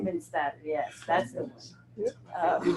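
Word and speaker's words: Widmanstätten: I know it's something statin pattern, but It's the Widmanstatten. Widmanstatten, yes, that's the one.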